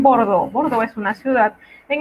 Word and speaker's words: Bordeaux: Si usted ve E, A, U, usted va a pronunciar O, como en Bordeaux.